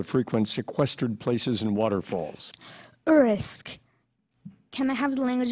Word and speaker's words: urisk: Urisk.